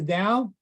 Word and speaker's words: Tao: but it's pronounced the da yes it's pronounced da by most people okay so it's a